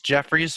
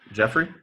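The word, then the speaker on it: Jeffery: don't like his name apparently because you'll never pronounce it correctly. I'll never. He's Jeffries for the rest of his life.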